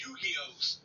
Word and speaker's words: Yu-Gi-Oh: Yagimon. You gotta say it right. It's Yu-Gi-Oh.